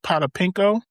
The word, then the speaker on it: Potapenko: Paul Pierce, Vitaly Potapenko.